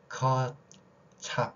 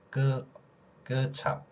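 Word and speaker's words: kecap: 그래서 커, 찹 이런 게 아니라 끄찹, 끄찹 그 다음에 이칸이 아니라 이깐 이렇게 발음이 됩니다.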